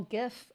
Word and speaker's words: GIF: I call it a GIF too. I know it's not supposed to, right? It's supposed to it was supposed to originally be pronounced J.